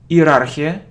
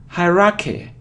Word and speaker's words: hierarchy: the second syllable okay it isn't hierarchia hierarchia no is isn't hierarchia it's look hierarchy hierarchy hierarchy hierarch hierarchy so you see that the main stress is on the first syllable hierarchy hierarchy hierarchy hierarchy